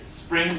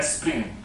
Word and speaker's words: spring: So Spanish people find it hard to say spring, spring, and they'll tend to add an extra syllable by adding an extra vowel. So they don't say spring, but espring. Espring.